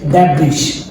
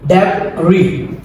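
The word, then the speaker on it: debris: আমরা প্রথমেই লেখা আছে ড্যাব্রিস আমরা প্রায় সময়টাকে ড্যাব্রিস বলি একটা রং সঠিক উচ্চারণ হবে ড্যাব রি ড্যাভ রি দেন পরে আছে আমাদের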